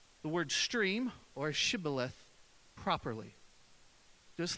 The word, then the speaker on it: Shibboleth: And then they would say to them, "Say now, Shibboleth." And they would say, "Sibboleth," for they could not pronounce it correctly.